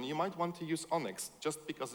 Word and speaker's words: ONNX: It's pronounced Onyx, like a Pokemon.